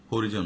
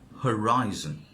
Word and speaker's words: horizon: হরিজন না, এটা কি, অনেকে বলবে দেখা হরিজন, হরিজন না, horizon.